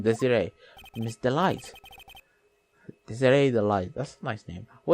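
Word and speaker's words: Desirée: She has an accent on the ear, so I'm guessing Desiree.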